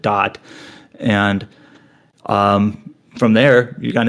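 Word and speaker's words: Da'at: And then later in the game, you kind of revisit this destroyed world, which is known as Dot. That's DA''AT. They just kind of pronounce it Dot.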